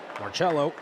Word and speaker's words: Marcello: Marcello is how it's pronounced.